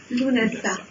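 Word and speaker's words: Lughnasadh: Donc le GH, on ne prononce pas non plus, ce qui nous donne Lunasa, tout simplement.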